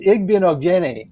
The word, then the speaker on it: Igbinoghene: It's Igbinoghene is how you pronounce it, and he is perfect for the Chicago Bears.